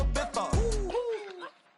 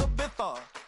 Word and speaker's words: Ibiza: I just went to Spain, that's a bitha. Ibiza. Yeah, it's pronounced Ibiza, actually.